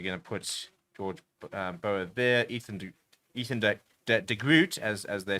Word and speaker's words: Ethan de Groot: Ethan de Groot, as they say.